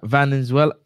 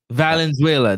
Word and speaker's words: Valenzuela: V A L N Z. Yeah, it's Venezuela. It must be Venezuela. Valenzuela. There you go.